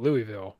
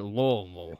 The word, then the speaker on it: Louisville: I call it Louisville, but I'm wrong. Louisville. So. Louisville. Yeah, you got to swallow it. You got to swallow every syllable of that word. Louisville. Oh. That's like the only correct way of saying it.